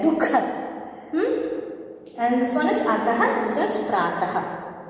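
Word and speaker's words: दुःख: Yes, actually whenever you used to call, casually we used to say dukha, but the correct pronunciation is dukha. Okay, that aha sound should be there, dukha.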